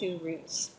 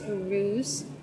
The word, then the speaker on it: Uruz: In this case, it's Uruz, or some people will pronounce that Uruz. Uruz. Okay, so that Z is kind of like a J and a Z sound together.